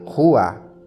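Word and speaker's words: רוח: o espírito ou ruach assim que se escreve ru mas a pronúncia é rua em grego é pneuma mas aqui o texto é do Antigo Testamento então é Rua se escreve ruach e se pronuncia ruá então o espírito que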